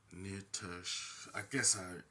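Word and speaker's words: Nisha: Now you can play as one of four characters: Athena the Gladiator, Wilhelm the Enforcer, Nitush. That's how you pronounce her name.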